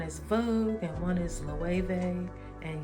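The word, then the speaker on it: Elle: Vogue and one is l and yes I pronounced it correctly it's l and then I have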